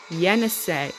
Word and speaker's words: Yenisei: You need to pronounce the I as an A. Yenisei.